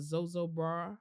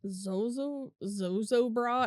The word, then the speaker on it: Zozobra: Burning of Zozo Bra. Is this how you say that? Zozo Bra is the only way.